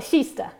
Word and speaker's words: Kista: You guys probably know about the AV shuttle buses already operating in between Kista and, is it pronounced Kista? Shista? Kista. And Stockholm, Shista, okay, thanks.